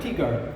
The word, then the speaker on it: Tigard: From Tyigard or Tarduard? Tigard.